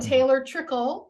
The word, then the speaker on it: Taylor Trickle: And Taylor Trickle. Is that how you say it? Yes.